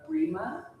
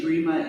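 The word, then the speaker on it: Breema: And I would love to weave in the practice of Brima to kind of merge with this QiGong inspired class. Brima, it's spelled B-R-E-E-M-A, and many of you have practiced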